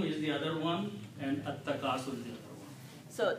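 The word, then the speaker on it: التكاثر: And when you pronounce AtTakasur, lam becomes silent in the pronunciation.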